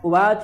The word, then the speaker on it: उवाच: उवाच संजय संजय उवाच उवाच वही पढ़ना है च का का पूर्ण उच्चारण उवाच और यह बा नहीं है वा वा संजय उवाच ठीक